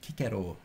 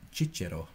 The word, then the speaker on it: Cicero: was first used by kikero to give the classical pronunciation or Cicero or I'm sure the Italians among chichiro something like that it was first used